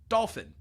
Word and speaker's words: dolphin: So other words that aren't n, they also have, like, if you said dolphin, it would be weird because you're not smooshing those syllables. Dolphin. So being able to say dolphin without having that third syllable, that means that whatever